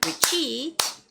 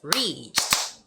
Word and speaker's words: reach: which is more like Ricky Ricky it's wrong it's reach reach okay so make sure